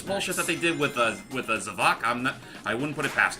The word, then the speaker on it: Zavok: But apparently, it proves that we've been pronouncing his name all wrong. It's actually pronounced Zavok.